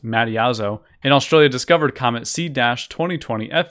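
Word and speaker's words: Mattiazzo: amateur astronomer Michael mom I believe this name is pronounced Madi as oh and Australia discovered comment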